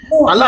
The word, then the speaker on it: Allah: Quand tu dis Allah, c'est pas français ni truc, c'est Allah, c'est Allah. C'était la prononciation en arabe.